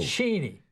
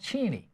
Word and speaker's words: Cheney: No, it's pronounced Cheney. Cheney, okay. Yeah, that's right, not Cheney.